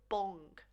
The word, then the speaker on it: bom: So if you say the word bong, bongos, we don't want that G sound at the end, but we want that nice nasal sound, bon.